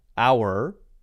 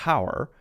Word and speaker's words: hour: But for example, both British people and Americans say our and honest. They don't, in England, they don't pronounce it honest or hour, but he says honest there.